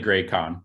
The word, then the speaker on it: Gracon: Did I pronounce your last name right? It's actually Gracon, but Gracon, sorry.